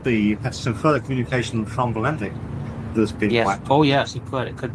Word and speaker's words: Valentich: So Valentic. Well, that's embarrassing. I've been saying name wrong this whole time. No, we're good now. It's Valentic.